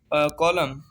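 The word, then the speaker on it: column: कॉलम, कॉलम mean कॉलम। एन जो है दोनों में साइलेंट है।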